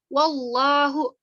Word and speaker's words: wallahu: Selanjutnya yaitu wallahu di sini. Wallahu. Hukum tajwidnya di sini wallahu itu tafkim karena lafaz Allah didahului oleh lafaz Allah ini didahului oleh huruf hijaiyah waw berharokat fathah, maka dibacanya tebal.